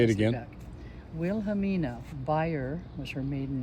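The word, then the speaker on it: Bayer: Chesley Minnie Chesley Wilhelmina buyer chess uh buyer Chesley gensel say it again Wilhelmina buyer was her maiden name uh Chesley gensel Chesley b-a-y-e-r like bear she's fine she spilled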